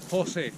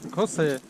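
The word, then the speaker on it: José: Now you pronounce my name. Jose. Хосе.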